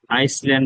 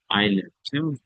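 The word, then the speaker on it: island: Beautiful beautiful আইসল্যান্ড বলবেন না তো, আইল্যান্ড, অ্যাসের উচ্চারণ হবে। এরপরে সোনাদিয়া মহেশখালী, কয়েকটা জায়গার নাম আছে।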